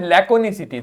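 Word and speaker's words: laconicity: लैकोनिसिटी। तो कैसे पढ़ना है इसको? लैक, देखो के बना है तो का बोलना है। लैक ओ निस ई टी, लैकोनिसिटी। क्या हो गया? लैकोनिसिटी।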